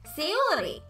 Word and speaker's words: Sayori: Sayori.